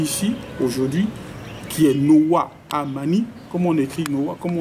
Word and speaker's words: Amani: aujourd'hui, qui est Noah Amani. Comment on écrit Noah? Comment on s'écrit Noah? N-O-A-W-A. Et Amani, c'est comme vous entendez, aussi simple que ça.